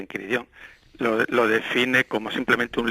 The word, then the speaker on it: Enchiridion: como está escrito ahí, que es una palabra latina y que se pronuncia en chiridón.